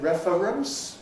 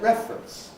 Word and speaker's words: reference: Is it reference or is it reference? I think reference ought to be your first choice.